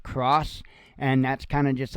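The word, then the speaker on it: XROS: Vesso cross pods, and it's spelled X R O S, but uh, as far as I know, it's actually pronounced cross, and that's kind of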